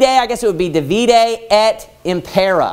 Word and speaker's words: divide et impera: And the Latin phrase is, it's divide, I guess it would be divide et impera, I guess is how you would pronounce it with the Latin pronunciation.